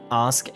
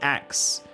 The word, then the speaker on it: ask: they almost predicted people phasing Ask out in favor of Axe? Well, that's really an American thing, I think. A lot of Americans say Axe.